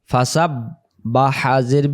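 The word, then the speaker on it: فَسَبِّحْ: বাফাসাব্বি বিহামদিবি হামদি এমন না ফাসাব্বি উচ্চারণটা উচ্চারণটা বানান করে দিতেছি ফা জবর ফা সিন বা জবর সাব ফাসাব বা হাজের বিহ ফাসাববিহ ফাসাববিহ ফাসাববিহ বিহামদি বিহামদি বিহামদি যখন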